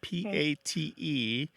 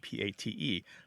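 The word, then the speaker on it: patte: you translated so you they're they sound almost the same pot and Pat so so it's so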